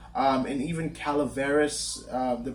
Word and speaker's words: Calaveras: And even Calaveras, the pronunciation, Mark Twain wrote his own version of the pronunciation. It's, he says Calaveras, but there's some places where it's like Calaveras. Like there's a subtle difference depending on where you're getting the story from.